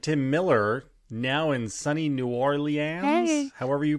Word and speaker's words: New Orleans: Yeah, New Orleans. Okay. Well, I'm going to work through that. It's 1.5 syllables at best. You had 5, I think.